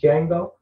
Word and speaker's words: Django: Django, when he said the D is silent and it's Django.